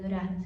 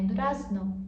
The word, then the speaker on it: durazno: Aí você já sabe que durar não, não é, não é durar, não. É durazno, mas eles falam durarn.